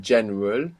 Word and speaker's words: general: now, for example, in general, how is this pronounced in Spanish? General. General. And it's spelled the same. So there we understand that GE makes G sound.